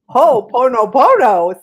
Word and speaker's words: ho'oponopono: Ilene's passion and soul purpose herself are teaching conscious heart connection and ho'oponopono, I said it right, An ancient Hawaiian problem-solving process that's a simple but extremely powerful tool for healing.